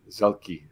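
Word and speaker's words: Zuehlke: Mark how do you say Mark's last name zelkie zelki Mark zelki very very well known uh Canadian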